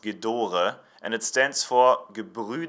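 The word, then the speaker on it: Gedore: their names actually mean if you have a wrench saying what you would read maybe as j'adore orchid or is actually pronounced Ghidorah and it stands for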